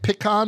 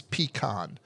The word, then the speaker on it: pecan: he said pan so the way he pronounced it is usually heard in Texas Oklahoma Louisiana and a few other states the one that's most most wildly used throughout the US is peon not Pon like you